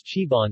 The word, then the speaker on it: chiban: area encompassed by Avasayan, T is prominent, whereas in the Isimaranjan zone to the south, Mahitao, Ivana, Uyugan and Sabting, that phoneme becomes a CH.